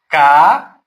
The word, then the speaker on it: caatinga: Vou dar o exemplo da palavra caatinga. Ó, Ca-a-tim-ga. Vocês percebem que aqui o A separou do outro A, duas vogais, sílabas diferentes. Se enquadra como hiato.